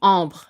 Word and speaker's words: ombre: Ombre. Oh. Oh. So Oh. sorry. Oh. Oh. B. Bre. B. So when you say the whole thing, ombre. Ombre. Ombre. Wow, that's hard, huh? Ombre.